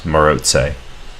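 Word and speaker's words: Maróczy: were hungarian and i believe in hungarian you pronounce this maroxy as morozei so that's definitely the accurate pronunciation um but more importantly this is the structure that's named after that that player moretze and it's it's pretty common you've probably already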